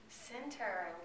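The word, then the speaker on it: Centre: I am from Center, Alabama. Center.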